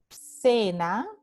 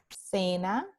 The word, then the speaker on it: cena: Entonces, en la palabra cena, cena, tenemos la letra C seguida por E y esta letra C se pronuncia S, S de cena.